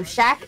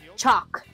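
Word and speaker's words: Chaac: Yo, Shaq is Chalk. His name is Chalk. Now it's Chalk. Keep saying it wrong. Now we know it's Chalk.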